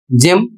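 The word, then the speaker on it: gym: इसे पढ़ा जाएगा जिम और इसका अर्थ होता है व्यायामशाला।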